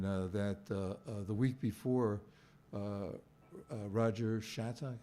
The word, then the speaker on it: Shattuck: You know, and that the week before, Roger Shattuck, am I pronouncing his name correctly? Shattuck, yeah. Shattuck had actually been written